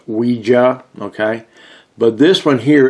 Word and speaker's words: Ouija: Some people want to call them Ouija boards, okay? Me, I prefer to call them, as it's pronounced, Ouija, okay?